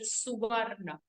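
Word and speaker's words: सुवर्ण: Okay, it has to be pronounced with Suvarna. Suvarna Sadrusho Bhanur Hiranyareta Divakaraha.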